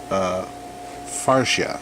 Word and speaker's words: Farsia: high grade Gundam Age farsia. I say farsia, that's how it's spelled. Some might say farsia, but I'm calling it farsia, so deal with it.